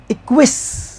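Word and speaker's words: acquiesce: ये देखो क्या है, इक्विस, इक्विस, इसका उच्चारण बड़ा अजीब है, इक्विस, ये पूरा मिला के सह का साउंड देता है।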